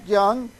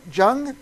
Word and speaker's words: Jung: Jung? Is that right, Rob? Young. Pronounce the J like a Y.